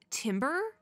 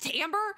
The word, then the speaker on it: timbre: how to say it I thought it was Timber Timbre like something like that but it's to Amber it's in like an a I had it